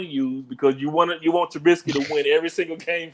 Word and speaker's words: Trubisky: I'm going to say his name with a T and not a B this time. Trubisky, you know, it's the return to him.